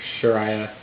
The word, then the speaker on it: Sharia: bit if people blame Islam and Islamic law Sharia that's how you pronounce it um if they blame those things